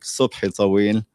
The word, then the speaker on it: Subhi Tawil: And before getting started, perhaps some of you might be wondering, Sobi Tawil, the name is Arabic, Subhi Tawil is the correct pronunciation.